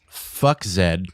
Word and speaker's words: FXCKZ: So it's pronounced fuck Zed. I just call it FXCKZ because that's what's written there. Oh, just saying. I get you. That's how they pronounce it. I mean, honestly, FXCKZ actually